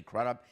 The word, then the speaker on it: Crudup: relationship is Albert Finney to his son Billy crudup I'm sure I'm mispronouncing that yeah it's Billy crudup this is